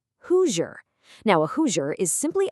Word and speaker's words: Hoosier: Let's say that really slowly together, gently separating those syllables. Hoo-jer. Hoosier.